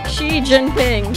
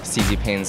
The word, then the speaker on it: Xi Jinping: That's one of the syllables. X-I, I don't know how to say this. Zing. Jing. Dai? Xi Jinping.